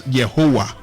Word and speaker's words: Yehovah: We have always had the correct word. It's Yehovah. Yes. That is the proper word. That's the proper pronunciation for God.